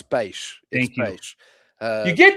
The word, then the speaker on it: peixe: 15 years ago, where in Pico they say bush, but in Terceira I say peixe. And they go, it's not peixe, it's bush. And I'm like, I don't say it like that. I say it this way, and you guys say it wrong. No, yeah, so, you're closer. It's peixe.